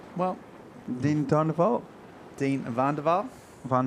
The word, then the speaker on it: Van der Waal: How do you pronounce his name? Well, Dean Van der Waal?